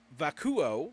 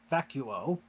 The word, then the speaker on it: Vacuo: a city yes um this is vako which I always mispronounce and M hates me for it vacuo is how I've always heard pronounced this we have not